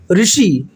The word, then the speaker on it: ऋषि: जैसे ऋषि शब्द का उच्चारण में ऋषि के स्थान पर हम री बोला जाता है, ऋषि। देखिए, हम ऋषि शब्द आपको नजर आ रहा है और इसमें देखिए हम री भी बोल सकते हैं।